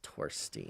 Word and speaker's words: Torstein: The the Norwegian Scandinavian uh pronunciation of the T is torstine.